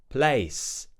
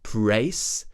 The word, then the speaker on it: place: another consonant before it you might say pra where you pronounce that L as an R I hear this a